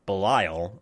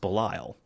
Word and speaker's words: Belial: bearded guy is uh belial or bellio but it's supposed to be pronounced belile and chloe says her